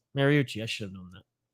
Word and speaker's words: Mariucci: collar drink in um mauricio how do you say that more oh mariucci mariucci i should have known